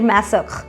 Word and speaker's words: Masoch: name of N Austrian writer Leopold fawn साखर मेसक इसको ऐसे ही प्रोनाउंस करते हैं who wrote extensively about the